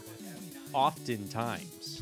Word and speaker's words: often: can't have you pronouncing the T in often. Oftentimes.